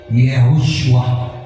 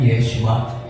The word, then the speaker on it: Yeshua: Kaya Yeshoshua. Mali yung nag-pronounce niyan. Yeshua.